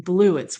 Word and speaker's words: bluets: Um, so I'm like, blueits, which is spelled like the color blue, blues ts.